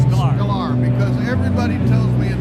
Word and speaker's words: Sklar: Sklar, because everybody tells me a different pronunciation of his name.